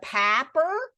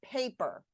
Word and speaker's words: paper: Is it a papper? Is that papper? Or is it paper? Oh, it's paper.